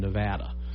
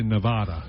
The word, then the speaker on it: Nevada: You know, most people say Nevada, you know, but if they say Nevada, they're from there or been there.